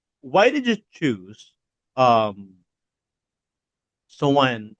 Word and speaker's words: Samhain: But why did you choose um Sowain or or Sowain rather and and Celtic lore as the heart of of this story?